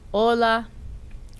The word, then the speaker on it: hola: In Spanish, the letter H is always silent. Listen and repeat. A, hace, helado, y, hispano, o, hola, u, humano, hola Hugo, hello Hugo, hasta mañana Héctor, see you tomorrow Hector.